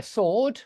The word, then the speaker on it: sword: in his hand yeah sword you don't pronounce the W even though there is a w yeah there's a sword